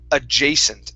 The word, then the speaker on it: adjacent: Give me a little bit more of a long a on the second A. Adjacent.